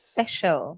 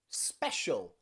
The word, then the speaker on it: special: to be quiet okay this can also be a way that we pronounce the letter c think about words like ocean ocean or financial or precious special or even special you are all very